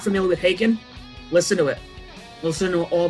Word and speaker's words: Haken: on their facebook pages it says haken and then it's like you know pronounced taken one taken to i didn't know how to pronounce it when i first i thought it was like hacking and then i saw